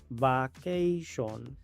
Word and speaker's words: vacation: La primera A se pronuncia A. La segunda A se pronuncia A. La T se pronuncia como SH. La I se pronuncia normal. La O se pronuncia como A.